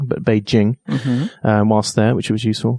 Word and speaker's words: Beijing: to Beijing which I learned is not actually pronounced be Jing but beij Jing whilst there which was useful then Shanghai and